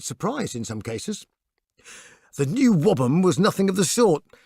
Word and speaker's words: NWOBHM: shortened to the equally incomprehensible NWOBHM pronounced new wobble the bands involved suddenly found themselves in a national music paper to their great surprise in some cases the new whabam was nothing of the